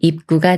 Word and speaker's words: 입구: 다음에 구라는 말이 와서 입구가 되는데요 이렇게 비읍 받침이 초선 기역을 만나면 초선 기역이 쌍기역 수리인 끄로 바뀌면서 입 구라고 읽어요 입구 입구 예문 읽어